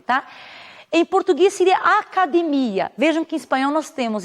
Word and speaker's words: academia: tônica então por exemplo quando falo em português academia em espanhol essa essa palavra até mesmo a grafia ela tem o mesmo valor e significado valor semântico mas ela diverte na sílaba tônica que seria academia vamos ver então me